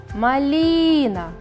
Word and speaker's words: малина: Малина. Ударение падает на второй слог.